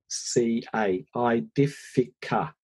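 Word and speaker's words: Aedifica: I better spell that for people. A-E-D-I-F-I-C-A, Idifica.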